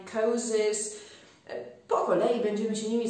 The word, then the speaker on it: psychosis: P przed S-ką milknie bardzo często w wyrazach typu psychic, psychiatrist, psychiatrist, psychologist, psychosis.